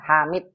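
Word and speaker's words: لِحَامِدٍ: Hadza li Muhammadin wa dzalika li Hamad. Mi. Gimana tuh? Mi, bukan mat, bukan hamad, hamid.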